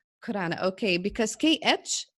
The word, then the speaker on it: Khurana: last name because I don't know how to spell that it's Khurana Khurana okay because kedge it's like my name but